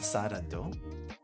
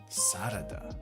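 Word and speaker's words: サラダ: Not sarado? Sarada.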